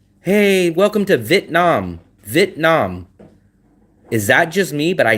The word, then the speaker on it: Vietnam: I hear so many Vietnamese people leave out the e. They don't say v it. They say vit vit Vietnam Vietnam Vietnam.